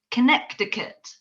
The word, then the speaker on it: Connecticut: like yes and then i discovered that connecticut is spelled really weirdly there's like a hidden sea that you don't know is in there so it's actually connecticut once i saw that